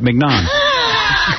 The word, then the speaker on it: mignon: So Scott says, oh, it's that you're pronouncing it right, mignon.